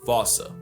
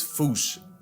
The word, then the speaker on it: fossa: But if you follow the Attenborough rule, Sir David would have had you saying Fossa. What if I told you both are technically wrong? Cause their name comes from the original Malagasy word, and apparently the correct way to say it is Fossa. Like Foosh.